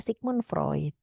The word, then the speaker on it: Sigmund Freud: Kalau menurut aliran psikoanalisa gitu ya, aliran psikoanalisa ini di ee dikembangkan ya konsepnya ini dari Sigmund Freud ya, bacanya adalah Sigmon Freud ya.